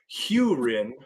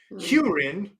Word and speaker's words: Hurin: great hunt first off his his name is pronounced hurin h e w that sounds like some lawn talk i n hurin and uh here the the the definition is